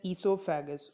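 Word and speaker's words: oesophagus: CC L saliva a gland ysou faggus it's pronounced as C so faggus okay then next one is liver then is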